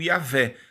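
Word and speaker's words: Yahweh: pode ser pronunciado ele nós nós pronunciamos como yavé mas eh não há assim uma uma constatação científica de que seria essa realmente a pronúncia a ade exatamente por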